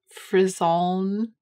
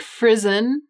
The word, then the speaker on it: frisson: they really have that frisson frison frisian frisson prison they have that frisson frison frison prison prison frison i think frison is probably the english pronunciation free sun and frison may